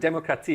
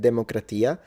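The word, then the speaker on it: δημοκρατία: So I think in modern Greek they say demokratia, but it is true that if you look at classical Attic pronunciation, it would be demokratia because it's a pitched language, whatever.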